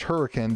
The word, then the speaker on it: Hurricane: It's pronounced Hurricane down here, but Hurricane, West Virginia.